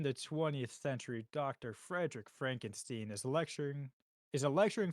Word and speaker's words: Frankenstein: brings up the subject of his grandfather Victor Frankenstein Frankenstein the infamous mad scientist with whom he does not want to be associated with and insists that his surname is pronounced Frankenstein when a solicitor informs him that he has